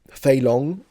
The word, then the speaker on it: Fei Long: you know the character Fei Long in Street Fighter. In Mandarin, you would read it Fei long. It's first tone, second tone.